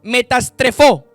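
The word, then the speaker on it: μεταστρέφω: Es una palabra que en el griego metastrefó, con acento en la E.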